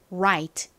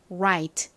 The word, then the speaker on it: right: 하면 차이가 있습니다 먼저 R 같은 경우에 뒤에 모음이 오면요 그냥라 이렇게 발음이 나는 것이 아니라라 요렇게 발음이납니다 그래서가 아니라 right right 이렇게 발음을 해 주셔야 합니다